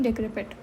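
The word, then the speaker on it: decrepit: ठीक है, सो इसकी प्रोनाउंसिएशन होती है डेक्रेपिट।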